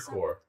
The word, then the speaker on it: Corps: Is it corpse or core? Core. You know what? I'm going to say it like it's spelled.